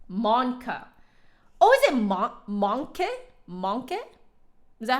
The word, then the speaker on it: Mancke: be Phil thanks Phil so monkey okay so monkey excellent yeah I see ously I've heard people say man key and I'm like okay I don't speak German but I feel like it that's not how you pronounce it harmonics articulation tone